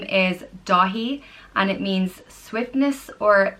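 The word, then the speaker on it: Dathí: that's a great name the next name is da he and it means swiftness or nimbleness and his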